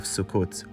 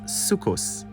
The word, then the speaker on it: Sukkot: the pilgrimage Festival of sukot will begin sukot is the Israeli sadii and Mahi pronunciations for the festival ashkanazi Jews pronounce it as sukos it is alternatively translated